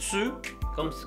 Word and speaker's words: tu: Yo, je, tú, usted, ustedes, tú, tu, se pronuncia la U un poquito cerrada, tu, como si hubiera una I, tu, ustedes, vous.